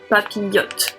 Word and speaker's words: papillon: The I and LL, it's Y. It's the Y sound. So Papillon.